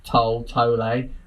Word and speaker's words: Tolle: I mean, there's enough people not sure how to pronounce the second bit. Tolle. I went with Tolle the whole time I was speaking to him.